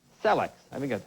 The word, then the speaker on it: Celexa: is unbelievable, say they developed a drug called Celex. I think that's how you say it. It's C-E-L-E-X-A. Is that how you say that? Celex? That's it, yeah. Celexa?